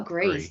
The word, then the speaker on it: gris: it's a pinot gris is that how you say gris grist or greece g-r-i-s gree pinot gris silent yeah s island like